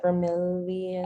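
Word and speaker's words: Vermillion: I thought it was like Vermilion.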